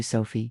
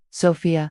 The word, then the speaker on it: Sophia: So lovely to meet you, Sophie," she said, getting my name wrong immediately. Sophia, I corrected gently.